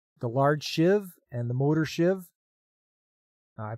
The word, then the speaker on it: sheave: I I pronounce it shiv shiv it's a shiv not the kind you stabby with there DJ hey what's